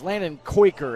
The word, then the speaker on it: Landon Quaker: a really good one it's Landon Quaker is how you say the name and he just picked